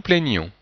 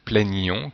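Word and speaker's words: plaignions: Que nous plaignons. Donc, on doit entendre une petite différence entre le présent plaignons et le subjonctif plaignons, qui est en fait la même forme que l'imparfait de l'indicatif.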